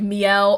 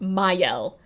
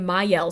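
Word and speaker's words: Mielle: that was their whole big thing is like Mel or actually I think it's supposed to be pronounced mayel yeah actually I was watching I was watching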